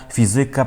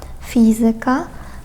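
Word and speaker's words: fizyka: Багато поляків говорить математика, граматика, політика, музика, фізика, практика, Америка. Насправді там акцент у цих наголос у цих словах вони у більшості грецького походження падає на третю від кінця.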